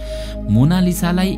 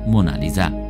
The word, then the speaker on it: Mona Lisa: मोनालिसालाई इङ्ग्लिसमा MONALISA लेख्ने गरिन्छ, कोही यसलाई मोनालिसा भन्दछन् त कोही मोनालिजा भन्ने गर्दछन्, तर इटालियाली भाषामा यसको सही उच्चारण हो मोनालिजा, जसको अर्थ हुन्छ माई लेडी लिजा।